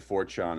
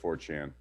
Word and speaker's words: 4chan: that's definitely not it people are making fun of me because i said fortune instead of 4chan i thought you were